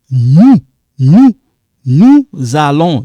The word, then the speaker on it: nous allons: Il va, elle va, nous allons. You link here. Nous a. You see this S and A? That's in English. S, A. This S I'm talking about become like za.